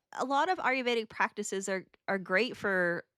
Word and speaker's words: Ayurvedic: practice now it's I I can't really pronounce this aruveetic it's aruvedic okay so it's not a